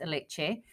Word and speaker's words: Alice: And her name was Alice, or Alice, and pronounced Alice.